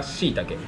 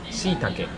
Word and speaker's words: shiitake: これは shiitake. Shiita? Shiitake. Shiitake. Mushroom is kinoko. これは shiitake. There are many kinds of mushrooms, right? Yeah. This is one kind, and you call it shiitake.